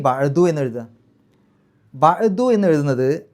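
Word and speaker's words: بَعْدُ: ഇപ്പോൾ മിൻ വന്നു വരിക, മിൻ ബഅദു എന്ന് തന്നെയാണ് പറയുക, മിൻ ബഅദി എന്ന് പറയില്ല ഇത്തരം സന്ദർഭങ്ങളിൽ. ശരി, ഫമാ യുകസിബുക ബഅദു ബിദ്ദീൻ,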